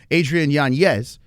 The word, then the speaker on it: Adrian Yanez: 10-8 Adrian Yanez, and that's how you're supposed to say his name, Adrian Yanez, a 10-8 in the final round.